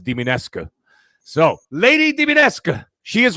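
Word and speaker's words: Dimitrescu: Diminescu. I had to actually look it up on Google, and the Google Translate, and then they actually play like the audio, and it actually is pronounced Diminescu.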